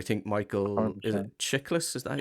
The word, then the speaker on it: Chiklis: it Chiklis? Is that how you pronounce Checklist.